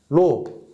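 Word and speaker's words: ρ: 로 A분의 L 이렇게 쓸 수 있습니다. 자, 여기서 이거 읽을 때 뭐라고 하냐면 로라고 읽어요.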